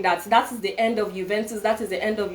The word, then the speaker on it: Juventus: This is a game that Juventus, okay, in Nigeria we call it Juventus. The pronunciation is actually Juventus.